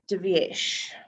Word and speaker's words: Divyesh: And it's Divyesh. That's right. Your name is very unusual. It's spelled different to how you pronounce it. Different pronounce it. It's actually an H missing in the name, so it's as per the passport.